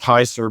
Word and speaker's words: Hser: It's HSER. I think it's pronounced Heiser.